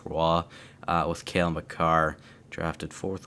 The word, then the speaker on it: Roy: I'm pretty positive it's pronounced Roy, with Cale Makar, drafted 4th overall by Colorado, obviously.